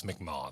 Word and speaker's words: Mi'kmaq: and that's as a Mi'kmaq. Am I pronouncing that correct? I know there's two. So they spelled it, I think, improperly. They shouldn't. It's McMaw. Though. Okay, McMaw. Okay.